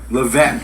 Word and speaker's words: Levesque: Levesque.